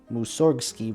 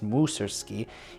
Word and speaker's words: Mussorgsky: Empire in March 1839 the Yi sound his name musorgsky versus mu sir ski is a great point of confusion for enthusiasts and scholars alike as his family never